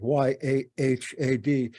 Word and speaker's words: Yahad: Maybe you've been thinking about why we have called our organization the Yahad, Y-A-H-A-D. Better pronounced Yahad, with a little bit of throat there in the H.